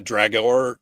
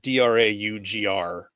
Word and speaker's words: Draugr: The main character is based on the Norse, like the Dragor. I'm not saying it right. Draugr is basically like, it's